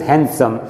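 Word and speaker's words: handsome: जब भी वहाँ एक डी आ जाता है तो ये साइलेंट रहता है, this is नॉट हैंडसम, this is हैंडसम।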